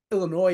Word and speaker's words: Illinois: I'm like there's no the s is silent bro I live in Illinois